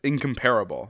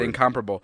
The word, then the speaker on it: incomparable: script said incomparable and the way incomparable spelled is it's set it's incomparable like that's how it's spelled out but it's red and comparable and i'm like i cannot